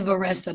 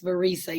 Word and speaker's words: Varisa: I always say Varesa, but it's Varisa.